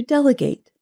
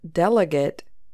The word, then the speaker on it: delegate: Yes, it is important to know that this noun has a related verb, to delegate, and there is a pronunciation difference. So the noun delegate has stress on the first syllable, del.